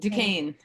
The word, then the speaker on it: Duquesne: Is that how I pronounce it? Duquesne.